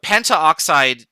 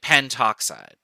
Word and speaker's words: pentoxide: But pentaoxide sounds like too many syllables. So we make it pentoxide. And you'll notice that the A here was dropped. Same with carbon monoxide.